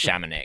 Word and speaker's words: Chamonix: it's skis, the actually blades really or the- pronounced Chamonix and you're Miley- correcting everyone else.